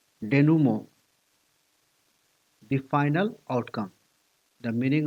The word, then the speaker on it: denouement: It has French origin. Pronunciation is somewhat like denouement, the final outcome.